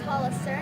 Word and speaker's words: Hollister: And it is pronounced Hollister, not Hollister.